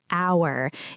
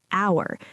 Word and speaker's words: hour: Hour. If you write it, it starts with h. But if you say it, the h is silent. It sounds like hour.